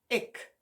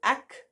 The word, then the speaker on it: ek: Ek, or depending on where you are in the country, ik. So some people pronounce it ak, and other people pronounce it ek. That will depend on which province you live in.